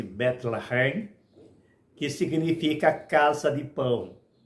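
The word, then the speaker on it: בית לחם: viviam em Belém que em hebraico pronuncia-se betlehem que significa casa de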